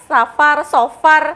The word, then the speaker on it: Safar: Bacanya kita safar atau seperti apa sih Gus sebenarnya ini ya secara bahasa terlebih dahulu. Monggo Gus. Baik, bismillahirrahmanirrahim. Ya, yang benar adalah safar. Safar ya, berbeda dengan safar.